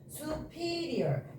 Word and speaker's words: superior: superior, inferior 이렇게 되거든요.